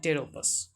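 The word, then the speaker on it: Pteropus: टेरोपस पी से शुरू है लेकिन कहा जाता है टेरोपस जो भी हो इंग्लिश का मैटर है इंग्लिश में लपेटा जाएगा।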